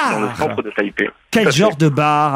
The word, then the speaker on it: Taipei: Est-ce que je prononce bien Taipei. Taipei, Taipei, c'est bien ça, Taipei, Taïwan.